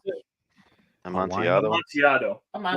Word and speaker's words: Amontillado: Amontillado something? Amontillado. Oh, Amontillado. Oh, so good. What is that, How do you pronounce it? Amontillado.